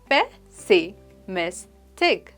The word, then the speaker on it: pessimistic: इसकी प्रोनाउंसिएशन है पेसिमिस्टिक। ये एक 4 सिलेबल वर्ड है और इसका एम्फेसिस मिस वाले पार्ट पर थोड़ा ज्यादा होता है।